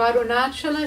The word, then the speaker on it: Arunachala: And he also pulled us up on our pronunciation of the holy name of Arunachala, as we had been doing it in the North Indian style, chanting Arunachal.